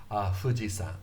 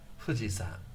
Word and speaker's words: Fuji-san: I don't say Fuji-san, I say Fuji-san, Fuji-san. So this is the famous Fuji-san, Fuji-san. San means mountain, Fuji-san. San is the Chinese pronunciation of mountain.